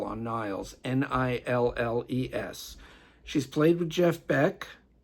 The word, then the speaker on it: Nilles: Anakah Niles, double L on Niles, Nilles. She's played with Jeff Beck. She has her own band called Neville, that's spelled Nevell, double L again.